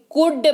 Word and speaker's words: could: L जो है वो साइलेंट है और ये कुड बन गया है, कुल्ड नहीं कुड बन गया है।